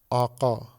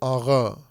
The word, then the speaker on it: آقا: یا جیسے مثلا ایک لفظ ہے جو دوسری زبانوں میں بھی پاکستان میں بھی رائج ہے، آقا. ایک لفظ ہے فارسی کا آقا، الف قاف دو نقطے والا اور الف، آقا. اس کو تلفظ جب کرتے ہیں تو آغا تلفظ کرتے ہیں. یہ ترکوں کا لہجہ ہے. یہ آقا، آقا فارسوں کا تلفظ ہے اور آغا یہ ترکوں کا تلفظ ہے.